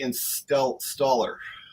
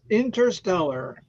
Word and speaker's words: Interstellar: it's going to be called the install staller Michael Klein oh what do you call the installer yeah i-n-t-e-r-s-t-e-l-l-a-r yeah that's a new movie that's not what it's called Interstellar Interstellar okay that's how you say it okay my bad but